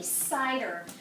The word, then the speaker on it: cider: Cider has a soft C. What is the next letter in cider? It's an I, so that I softens the C, cider.